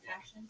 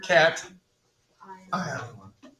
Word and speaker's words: cation: the emphasis on the wrong syllable. So just any of What? these that are positive? Wait, where? Cat ion. Cat ion. Instead of putting it on the second part, put it on the first.